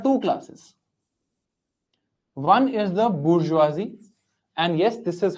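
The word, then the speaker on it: bourgeoisie: One is the bourgeoisi and yes this is how you pronounce it. I guess please pronounce it as this only bourgeoisi.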